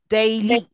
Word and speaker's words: daily: say the word daily now you all say it in a casual way in an Indian English you say just daily but actually do you know how do you pronounce day daily day a can you see that a there is an a there is an